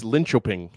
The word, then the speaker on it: Linköping: So we'll I know how to pronounce it's Linköping.